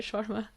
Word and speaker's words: shawarma: So how would you pronounce the word shawarma? Shawarma. Shawarma, okay. There you go. We did have very intense debates about this. Well, in Saudi Arabia, that's what they call it. In Canada, they'll call it, no, in India, they'll call it shawarma, and then what do they call it shawarma, with the little accent on the R.